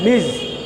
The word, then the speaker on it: Ms: প্রথম শব্দটা মিজ, MS উচ্চারণটা হবে মিজ।